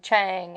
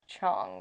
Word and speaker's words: Chang: we call them big Chang at first when we didn't know there's big little Chang's because there's different sizes yeah mm-hmm but it's pronounced Chong right yeah I think